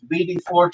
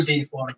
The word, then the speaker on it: WD-40: All are cleaned, BD40, stuff like that. Still no results. WD-40. You have to say it correctly.